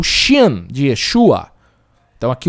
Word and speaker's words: Yeshua: era representado, por exemplo, Yeshua, é um A gutural, Yeshua, é bem diferente, né? Hoje se fala Yeshua para facilitar a pronúncia.